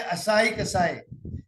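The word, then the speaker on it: Asahi Kasei: जैसे कि मैंने स्पेलिंग गलत लिखी होगी, ये एक जापानीज कंपनी है, इसको एके कॉर्पोरेशन बोलते हैं, असाई कसाई।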